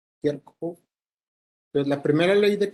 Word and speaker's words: Kirchhoff: Y para poder analizar los circuitos necesitamos las leyes de Kirchhoff. Esta es la pronunciación más o menos como se podría representar en español, pero así se escribe el apellido de quien las definió, Kirchhoff.